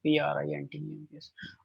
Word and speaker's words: printemps: P-R-I-N-T-E-M-P-S. All right. Le printemps. Le prin. The correct pronunciation is prin. Always remember, IN will give you a sound of un.